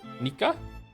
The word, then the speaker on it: Nika: If you're wondering, my name is pronounced like like Niko but with an a sound instead O. Nika Niko Nika.